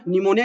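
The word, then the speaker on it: pneumonia: निमोनिया का spelling basically start P से होता है, तो यहाँ पे पी आपका जो है ये पी को ये रिप्रेजेंट करता है।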